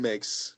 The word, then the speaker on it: Mueksch: He's also, most importantly, a Chicago Cubs fan, and his last name rhymes with Twix. Ladies and gentlemen, my guest for tonight, the Ryan Mueksch.